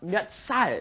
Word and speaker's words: 몇 살: Notice it becomes pronounced 몇 살. It's kind of stressed on the S, makes it a little bit stronger.